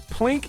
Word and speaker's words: plink: you could even use the select button to do this plink is pronounced as one syllable but it is a